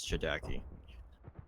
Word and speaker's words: ChDKZ: It ends up getting pronounced as Chidaki.